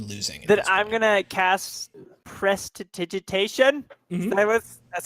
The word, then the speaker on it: Prestidigitation: Then I'm gonna cast Prestidigitation. Mm-hmm. That's how you pronounce it.